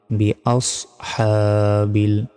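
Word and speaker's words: بِأَصْحَابِ: এখানেও ভুল উচ্চারণ করি, কি বলি? বি আস হা বিল। এখানে আস কিন্তু বলা যাবে না, এখানে সিন অক্ষর নাই, কি রয়েছে? সদ রয়েছে। তাহলে হামজা সজ্জবর আস, আস, আস এভাবে উচ্চারণ হবে।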